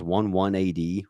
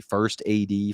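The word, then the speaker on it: 1st AD: about ramadi um he he always mispronounces our unit he says one one a.d it was it's 180 first ad first armor division that was us um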